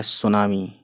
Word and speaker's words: सुनामी: रहा है वह है सुनामी यह 30 है इंग्लिश में TV apps you एन ए एम आई सुनामी 30 silent है यहां पर ठीक पर यह